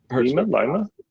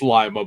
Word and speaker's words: Lima: It's Lima, but I heard something the other day who said something like, "Oh yeah, gotta go over to Lima." I'm like, that's the pronunciation of it in Peru, but not in Ohio.